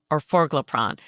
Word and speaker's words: orforglipron: distinction between them, but up for debate is whether the for or the gip is the emphasized syllable. I'm going with or forgrron because that feels more natural for me. Although that may be the British way to pronounce it.